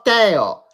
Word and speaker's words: Tio: Oye, se pronuncia como Teo. No eso como el tío.